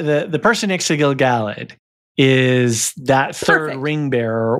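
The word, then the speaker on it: Gil-galad: pronunciations already and I I've already been saying gilgalad a little wrong it really should be Gil galled yes Gil galled so anyway the guy the the person next to Gil galled is that third ring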